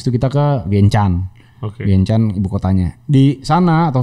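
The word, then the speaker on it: Vientiane: ibuotanya di sana atau Vien Tien gitu ternyata gua juga bar tahu bacanya ternyata Vien Chan kalau orang sana kalau Tien tuh Chan Iya heeh vientien itu bahasa Inggris kalau orang lokal namanya vienchan nah di vienchan itu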